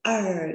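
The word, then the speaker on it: 儿: Đề chứ sẽ ở đô. Các con lưu ý khi phát âm chữ ở. Các con cuốn lưỡi lên cho cô nhé.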